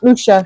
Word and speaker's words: Usha: Usha. It's her name. USHA is how you say it. Or Yes. spell it, I'm sorry.